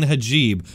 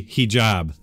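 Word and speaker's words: hijab: made yesterday multiple times criticizing ajeeb honestly I know how to say it correctly but for some reason my brain and my mouth just weren't cooperating I think I'm gonna go ahead and blame the time change I haven't been sleeping great thanks to everybody who reminded me of the correct way to say he job with the Muller report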